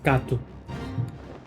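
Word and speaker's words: cacto: While the actual pronunciation is Kato. You basically pronounce it like it's a U at the end, instead of an O.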